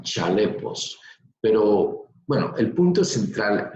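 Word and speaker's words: χαλεπός: Esta palabra tiempos peligrosos, aquí está, viene de un verbo griego que se escribe como aparece en pantalla, se escribe jalepos, pero se pronunciaría un poco como chalepos, pero bueno, el punto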